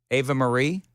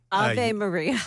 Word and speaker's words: Ave Maria: Apparently, I was also mispronouncing Ava Marie. Ave Maria. Yes.